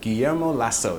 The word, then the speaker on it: Guillermo Lasso: would like to talk about the ecuadorian president guillermo lasso did i say it right yes yeah okay